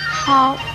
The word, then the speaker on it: 叨: 叨这个字的国语注音是叨，一声叨，科凹叨，一声叨。